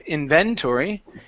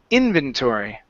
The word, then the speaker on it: inventory: here this is inventory the stress is at the very beginning instead of inventory it's inventory inventory good I like to